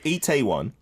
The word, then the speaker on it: Itaewon: Good Itaewon, attitude.